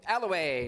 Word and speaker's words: Alloway: It was, do you know the right pronunciation? Alloway, number C, Alloway.